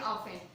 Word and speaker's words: often: Okay, T is silent in often.